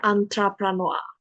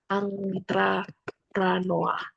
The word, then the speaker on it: entrepreneur: Nah, kalau tulisan ini entrepreneur bacanya antrapranoa bacanya ang bukan angtra pranoa.